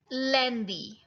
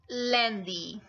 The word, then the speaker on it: lundi: So here you are going to learn their pronunciations in the French language. So Monday is lundi. It's lundi.